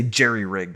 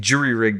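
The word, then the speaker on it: jury-rigged: right i'm not sure some people say jerry-rigged i think that's german oh i think jury rigged is the right way to say it but but basically you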